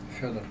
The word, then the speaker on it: Fedor: For the record, how is your first name pronounced? Fedor.